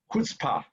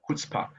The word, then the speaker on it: chutzpah: So this word is pronounced chutzpah, chutzpah. Okay, CH. The word C has no vowel in no pronunciation in Jew, in Hebrew. So it's pronounced chutzpah.